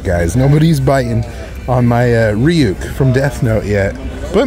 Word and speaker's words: Ryuk: Carnage for Ryuk.